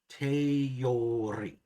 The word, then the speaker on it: teori: So for EO, you stick in a Y. Teori.